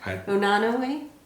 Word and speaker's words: Unanue: Unanue?